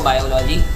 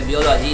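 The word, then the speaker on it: biology: हाँ, अगर आपको कोई मेडिकल की फील्ड में जाना है तो आपको बायोलॉजी या बियोलॉजी, अगर इसके असली प्रोनाउंसिएशन मैं यहाँ पे लूँ तो बियोलॉजी आपको सिलेक्ट करनी पड़ेगी।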